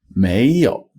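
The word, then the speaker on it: 没有: please never do that you say may Mayo May has a second tone Mayo so how would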